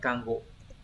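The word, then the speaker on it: 看護: Đây chữ này là chữ Cang gộ nó đọc là cango trong Từ cang kangos có nghĩa là điều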